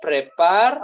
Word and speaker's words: prépares: Tu te prépares. Okay. ES is silent, okay?